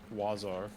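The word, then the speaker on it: oiseaux: in in French the word for bird is pronounced wazar but it's spelled like o i s e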